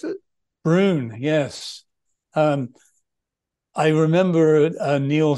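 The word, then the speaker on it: Broon: Is it Brune? Is that how you pronounce it? Brune, yes.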